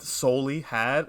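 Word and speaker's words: Souly Had: not by someone named soli had it's spelled s-o-u-l-y like soul-e had and then uh mac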